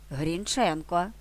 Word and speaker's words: Грінченко: мова наголошував Грінченко Вікіпедія Грінченко Борис Дмитрович Грінченко наголос у прізвищі на другому складі як зазначав свого часу